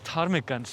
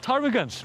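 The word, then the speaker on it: ptarmigans: I think it's tarmigans. It's like you have this silent pee here. Uh, I never understand the P rule when it comes to PT in English. It feels random.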